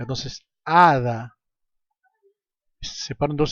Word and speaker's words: hada: La hada, por más que el sustantivo hada esté empezando con la grafía H, esta al no tener una pronunciación hace que la A sea concentre la sílaba tónica. Entonces, hada se separan dos sílabas y A es la sílaba tónica.